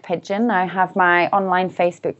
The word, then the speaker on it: Pidgeon: And for those of you who are listening, Nick is spelled N-I-Y-C and Pidgeon is the spelling of like the bird, Pidgeon. It's got a D in it as well though for Pidgeon.